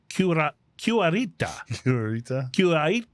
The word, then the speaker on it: Cuarenta: Oh man, I pronounced this right at home, and I just blew it here. That's the letter E. Cuarenta.